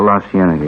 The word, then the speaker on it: La Cienega: Over on, that street out that way, La Cienega. Is that how you say it? Oh, La Cienega, yeah.